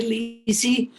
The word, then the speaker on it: Leecy: name is most people call me lisey i was raised in brazil where my name uh is pronounced and so i grew up having people call me lissy just dropping the ah so that's where elise